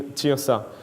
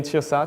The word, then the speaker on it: Tyrsa: Satire means Tyrsa. So you exchange the letters. So now it became Tyrsa, T-Y-R-S-A, instead of satire, S-A-T-Y-R.